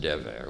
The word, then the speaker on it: Dever: Now, my name, Dever, in Israel, unfortunately, is pronounced Dever, which means plague or pestilence. So I don't like it. I add a yud and change it to Devere, Professor Holy of Holies.